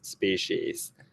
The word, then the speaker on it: species: Sometimes the S, so sometimes the C is pronounced as an S and it starts with an S, the word, and it ends in an S and there's another S